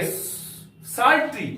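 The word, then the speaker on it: psaltery: हम लोग क्या के सल्ट्री पी एस ए एल टीई आर वा पी एस ए एल टीई आर वाई सल्ट्री या पी साइलेंट है इसका अर्थ होता है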